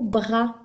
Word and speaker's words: bras: On y va avec les mots qui ont un S muet à la fin, comme le mot bras. Un bras s'écrit BRAS.